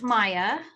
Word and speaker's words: Mia: all right thanks great mia would you like to introduce yourself next good morning um my name actually is pronounced maya oh i'm sorry uh